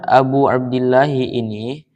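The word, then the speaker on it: أبو عبد الله: Jadi lafaz Abu Abdillah ini menjadi badal dari lafaz asy-syaikhu, yang mana berupa badal kul min kul. Jadi lafaz Abu Abdillah ini berupa tarkib idofah, namun terdiri dari tiga kalimat.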